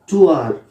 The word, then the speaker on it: tour: एक वर्ड होता है देखिए TOUR, इसका प्रोनाउंसिएशन होगा टूर, इसको टूर नहीं बोलते, इसको टूर बोलते हैं, टूर, टूर। और रा को भी प्रोनाउंस नहीं करते, इसको बोलते हैं टूर,